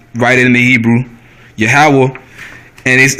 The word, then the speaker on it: Yahweh: The way you say the Most High's name is Yahweh, which means he to be. It's how you write it in the Hebrew. Yahweh.